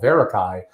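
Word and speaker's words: Verakai: Y, founder of a company that I did pronounce correctly called Verarakai, but how is that spelled?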